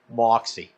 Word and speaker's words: Moxie: Pronounced Moxie.